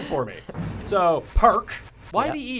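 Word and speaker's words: Parke: tronald though that's an easy one that one's phonetically spelled for me so perk why he e he's not French is he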